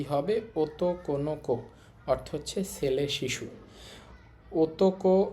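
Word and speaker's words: 男の子: ওতোকোনোকো অর্থ হচ্ছে ছেলে শিশু।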